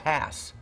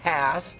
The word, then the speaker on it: Hass: guy's name was rudolph hass the guy's name was rudolph hass and i think we need to pronounce his name correctly don't you think think think as in pass or class yes